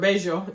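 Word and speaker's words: Bello: If you choose to say in Beo, which or bejo is technically how they say it, which I would not recommend, but it's going to be a lot less expensive.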